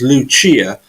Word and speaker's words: Lucia: It's like my sister is Lucia, Luc, single CIA.